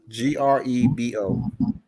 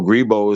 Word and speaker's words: Grebo: are called the gribble people how do you spell that g-r-e-b-o g-r-e-b-o b-o okay i seen that somewhere right grebo right so um what's the what's what's the what's that language that is a language so gribo is the language and it's spelled g-r-e-b-o okay